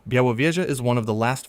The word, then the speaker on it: Białowieża: Pronounced Biaowieza. Białowieża is one of the last fragments of the primeval forest that once covered the whole of lowland Europe.